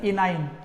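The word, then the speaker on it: enyne: इनाइन। इन for double bond, आइन for triple bond. In for double bond, आइन for triple bond. तो इसका pronunciation आता है इनाइन।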